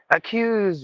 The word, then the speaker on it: accuse: with a z sound accuse with a z sound acquisition with a z sound because the yes is in between the vowels so you have to say acquisition uh because with the z sound because the yes is